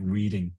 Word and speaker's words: Reading: The nearest larger town is called Reading, spelt just like reading, but pronounced Like Reading.